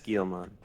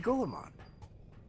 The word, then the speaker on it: Guilmon: That is Guilmon. Yeah, that's what I said. That's not what Guilmon. you said. I said Golemon.